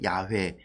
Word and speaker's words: 야훼: 그래서 그 글자를 이제 현대 우리가 해석하고 이렇게 읽지 않을까라고 발음을 붙인 게 야훼.